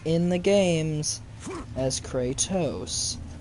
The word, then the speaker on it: Kratos: in the games as Kratos, not Kratos. So shut up with your Kratos. It's Kratos. The O says its name.